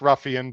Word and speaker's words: Ruffian: Uh that it is it is pronounced Ruffian. But look, Noah was was born in 2000 or 200 what 2004. So let's give let's give the young man a break. Uh but anyway, it is Ruffian.